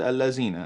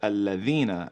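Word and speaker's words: الَّذِينَ: She said Allazina, and I said, okay, let me teach you something. Here, there's a letter, it's called a the, and you pronounce it Alladhina and not Allazina.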